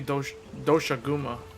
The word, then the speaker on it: Doshaguma: This is They really pronounce it going on ahead. Doshagama. I would say Doshaguma.